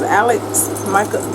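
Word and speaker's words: Alex Michaelides: This is Alex Michaelis.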